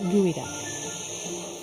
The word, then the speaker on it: geoduck: It may be spelled geoduck, but it's pronounced gooey duck.